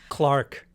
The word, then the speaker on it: clerk: yeah minim and also clerk clark is that really how they say that oh yes well it's spelled like clerk yes like a job and